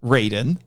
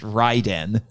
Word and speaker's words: Raiden: Although I've heard that pronounced Raiden, probably so they don't get him confused with the Mortal Kombat character. And there's also a character named Fujin in the Mortal Kombat games. And he's a wind god. Actually, Raiden's probably the correct Japanese pronunciation. Probably.